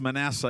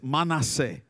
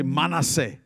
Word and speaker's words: Manasseh: church and we called it manasseh it's not pronounced manasseh it's manase everyone say manase don't is feel very hebrew very intelligent at